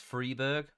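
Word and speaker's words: Friberg: i'm talking about otherwise that's freeberg apparently just free berg but the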